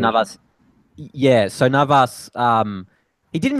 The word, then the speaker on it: Navas: I mean, Navas, or not Navas, was it Neves, the No, goalkeeper? yeah, Navas. That's the right Yeah, pronunciation. Navas.